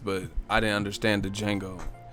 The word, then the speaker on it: Django: You a beast, but I didn't understand the Django. The D is silent. That motherfucker had them ruffles. And I ain't talking about chips. I just didn't understand why he wore that though. Like, what was the Django suit for or whatever?